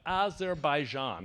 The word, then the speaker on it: Azerbaijan: is a movement right now the president of Azerbaijan that's how you pronounce it Marybeth the President of Azerbaijan said